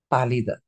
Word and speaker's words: pálida: When there is an accent, you have to pronounce it properly, which is pálida.